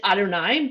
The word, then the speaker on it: Adonai: say of god we when we see that word written in a prayer book or in the torah or anything we pronounce it adonai but anyone who knows